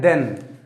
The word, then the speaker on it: than: THEN होता है देन, जल्दी पढ़ा जाता है, और THAN इसे थोड़ा खींच कर पढ़ा जाता है देन, ठीक है।